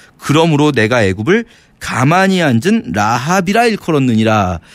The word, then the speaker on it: 라합: 이 발음이 조금 비슷한데 사실 여리고성의 라합은 라합이라고 길게 발음해야 되고 여기 짧게 발음하는 건데 라합. 요 라합 언제 나왔었냐면요.